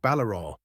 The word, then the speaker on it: Valarau: "Ah, Mortimer, I see you have met Master Valarau, pronounced like Ballarau.